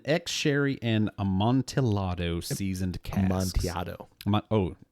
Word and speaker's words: Amontillado: Amontillado. Amontillado. Amontillado. Don't pronounce the double L. Don't know L's.